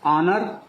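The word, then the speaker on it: honour: इसी तरह से ऑनर, ऑनर्स का उच्चारण भी आ से हो रहा है, तो इसीलिए ऑनर के जस्ट पहले भी इंडेफिनिट आर्टिकल एन का प्रयोग होगा।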